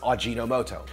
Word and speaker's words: Ajinomoto: company that created msg ajinomoto I know I pronounced that wrong in my MSG video thanks for all the corrections I know it's odd gino moto now nucleotide seasoning even